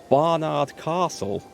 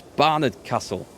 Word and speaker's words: Barnard Castle: And all the because it's just up the road from me, all the flipping news reports were called it Barnard Castle. Well, no, it's Barnard Castle. You got it wrong.